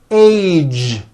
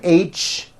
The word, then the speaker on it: age: Be sure to keep the voicing going throughout the whole word. Age. It's not H, it's age with a voiced ending.